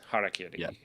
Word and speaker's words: Harakiri: Harakiri.